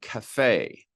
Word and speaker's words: cafe: Uh foreign words like cafe. Cafe is pronounced. There are others where you have suare. When you have French words that enter into the language, they have an e ending that is sounded.